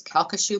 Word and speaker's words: Calcasieu: It's taken me a while to learn to pronounce this. It's Calcasieu Pass came online in February,